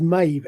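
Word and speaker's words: Maeve: I mean, MAB is almost certainly what the the Celtic would pronounce as as as Mave. M- AE v E.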